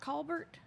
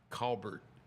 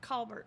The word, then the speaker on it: Colbert: It It's not It's not Colbert. It's Colbert. C A W B E R T. Colbert.